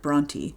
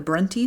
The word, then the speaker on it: Brontë: made the Duke of Bronty, a place in Sicily. So Patrick essentially rebranded the family with a fancier name and the added dots to make sure people didn't pronounce it Bront.